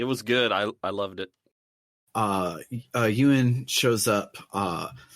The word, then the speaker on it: Yun: His name is Yun in the subtitles, YUN, but all the voice acting puts a second syllable in there, which maybe I think a I Chinese think it's a pronunciation. Chinese. I think it's a Chinese pronunciation thing. Like that is the correct romanization. It just it's not the same vowel sound.